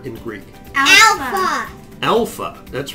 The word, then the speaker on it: alpha: here to the right, it also corresponds to the use of the English letter A as in the use of the word father, ah. So a small A in English is ah, and a small alpha in Greek is ah.